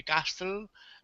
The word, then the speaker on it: castle: dreaming uh maybe a castle and thinking about the furniture inside the castle um castle sorry so it sounds like castle castle so no t the t is silent castle castle good good